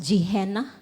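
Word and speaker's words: Gehenna: No the lake of fire or saan pag-pronounce jeihena.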